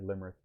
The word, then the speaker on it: Limerick: do you say that football team is it limerick oh the one that yeah limerick yes then um i heard i heard an